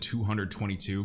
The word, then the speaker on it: 20022: I pronounce it 222 based off of what I've heard from people in the industry call it, like Marcus Treacher.